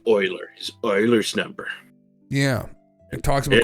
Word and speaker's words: Euler: Uer, you can't help it cuz I I thought it was Ulers. We We had a high school teacher that always called it Euler's number. Yeah. which is thinking back is a little shocking because I think I think the uh the teacher had a master's degree in math and I didn't know it was Oilers until a couple years ago and it's pronounced Oilers because it was a Swedish guy.